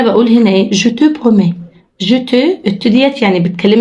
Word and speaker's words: promets: promets لا نطقش لا الت ولا الأس.